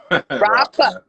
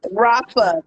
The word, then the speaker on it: Rafa: Is it Rafa? Rafa. Rafa. Okay, I like it.